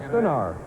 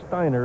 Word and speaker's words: Steiner: For complete scores and highlights, tune in to CNN Sports late tonight at 11:30 Pacific with Tom Stenar. Did I pronounce that right? It's Steiner, isn't it?